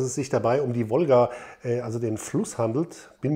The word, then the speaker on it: Wolga: jetzt richtig orientiert habe in der aussprache ist dieses l mit dem strich durch ein und dann ist das war wohl wolga folgen wollen also ich